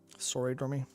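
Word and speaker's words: Soridormi: And I believe what we see in that is Sidormi, is it Sora Dormy? Sora Dormy. S-O-R-I-D. Oh, good, I was actually saying it right.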